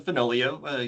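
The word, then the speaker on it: Finoglio: My name is Finolio. Yes, the G is silent.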